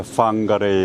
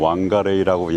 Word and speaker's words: Whangarei: 오늘은 오랜만에 Whangarei에 왔습니다. 보통 Whangarei라고 얘기를 하는데 Whangarei가 정확한 발음일 겁니다.